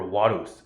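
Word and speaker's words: Varus: is this guy named Varys or Wados in Latin. So by the way in Latin um the letter V um is pronounced like the English letter W, right?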